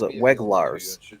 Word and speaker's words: Weglars: You pronounce his last name is 2 syllables, Weglars.